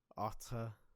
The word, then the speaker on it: autre: But when it's the mixture of and then the tre that's pronounced not tr or tre or tra. Autre.